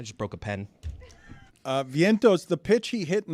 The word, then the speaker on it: Vientos: post Major League hit am I saying Vientos Vientos yes it's it's a in Spanish it's a